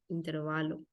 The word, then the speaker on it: intervalo: en la e pero la palabra es intervalo no lleva tilde es una palabra llana intervalo así se pronuncia intervalo y bueno son algunos